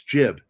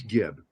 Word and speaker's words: Gibb: And the guy says, "That's jib." And he goes, "No, it's Gibb." All G's are hard, which is why my the G in my name is hard and I am a hard G.